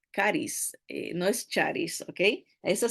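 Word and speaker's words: χάρις: La la leemos como charis Pero se pronuncia caris Ah de ahí sacamos la palabra carismático o carisma caris no es charis Okay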